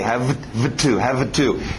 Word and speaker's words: have to: Esse V não bate muito bem com um T, have to. Então sobe esse V e faz um F dele, subir para a boca e vira F. F bate muito bem com o T.